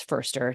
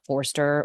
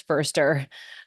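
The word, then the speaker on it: Foerster: and Chris fer and mind you it's fer not Forester or Forester or Forester it's Chris firster um I always hear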